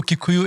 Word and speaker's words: Kikuyu: So Kikuyu is the anglicized pronunciation. Gikuyu is a proper...